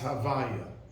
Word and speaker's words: Havaya: The month of the Arizal explains that the lineup of the letters is Hey, then Vav, then Yud Kei. And it's pronounced Havaya.